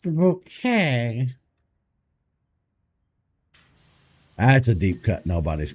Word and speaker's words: Bucket: Mrs. Bucket. It's pronounced bouquet.